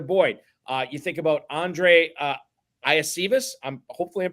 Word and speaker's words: Iosivas: The way he told media to pronounce it, because it's the same thing that happened with Devon Achane, and is that their college media guides, for whatever reason, just never corrected the pronunciation. So it's actually Andre Yoshivas. Would not have gotten that in 100 guesses.